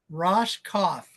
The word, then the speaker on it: Roskopf: be Ro how do you say it again rosoff Ros cough so the Q is silent huh the Q yeah the there's no